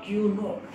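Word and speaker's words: Q₀: To differentiate test charge from this other charges, I am just writing a 0 here and it will be pronounced as the Q naught.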